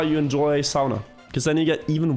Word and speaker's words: sauna: Try looking up how the Finnish people say sauna. And you'll find they say it that way.